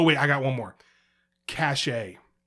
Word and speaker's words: cache: Cachet. Now, cachet is a word. Cachet is a word. All right. But if you have to clear your cookies and things, it's cache. Okay.